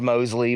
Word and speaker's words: Mosley: It's pronounced Mosley, but everyone, you know, I've been called so much of my life.